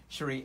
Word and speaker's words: Shri: And you pronounce it how? Shri. Shri.